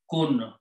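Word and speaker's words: مَلِكٌ: Malikun, pronounce this way, Mim with a Fatha, Lam with a Kasra, Malikun, this means king.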